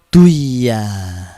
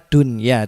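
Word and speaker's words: دُنْيَا: Idgham Bighunnah seperti itu selanjutnya dunia dunia maka dibaca dunia ya tidak boleh dibaca dwia itu Hai jadi tune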